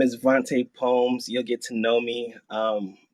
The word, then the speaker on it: Vante Poems: Well, all I'm gonna say is my name is Vante Poems. You'll get to know me. But if you ever forget, I like to say it like this. It's Vante Poems, yeah.